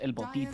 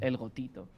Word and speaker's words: El Gotito: You see how when you say it, sometimes you think it's El Botito, so people mispronounce it. But it's El Gotito.